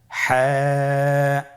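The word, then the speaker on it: حاء: হা হরফটি কিভাবে উচ্চারিত হবে? হা হরফটি উচ্চারিত হবে কন্ঠনালীর মধ্যখান হতে।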